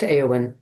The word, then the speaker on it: Éowyn: Yes, it's pronounced Aowen. Aowen.